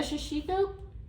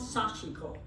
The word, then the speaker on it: sashiko: A shishiko is a type of quilting that originated in what country? Japan. That is correct. I still don't know if I'm pronouncing that right. I think so. Sashiko. It's sashiko.